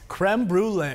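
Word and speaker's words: crème brûlée: Creme brulee.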